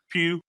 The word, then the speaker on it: Pugh: And I agree with you that Florence how is her last name pronounced? Pugh.